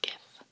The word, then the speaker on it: GIF: own physical analog animated GIF. The animated GIF, and yes, I do pronounce that with a hard G, is a cornerstone of internet culture.